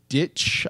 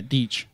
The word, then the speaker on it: Deitch: Apparently, the classic animation creator of Popeye and Tom and Jerry, Gene Ditch. I might be pronouncing the name wrong. Deitch. I think it's Deitch. Yeah, Deitch.